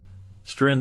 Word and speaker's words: Streisand: Streisand also clarified the pronunciation of her surname, stating that it should be pronounced with an S sound like sand on the beach, rather than the commonly used Z sound.